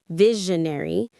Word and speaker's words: visionary: Visionary is someone with a strong imaginative plan for the future. visionary. Stress on the first syllable.